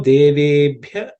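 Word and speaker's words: देवेभ्यः: In terms of pronunciation, things you should keep in mind are yo, devebhya. Ub is the fourth letter in the pa varga, so it has to be aspirated. Bhya, okay. Bhya, okay.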